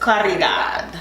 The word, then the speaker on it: Caridad: Yes, in Spanish you roll your R, so I just Caridad.